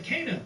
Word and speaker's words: Kena: Next over at number 4, we have Kena, Bridge of Spirits. Yes, that's actually how you pronounce it.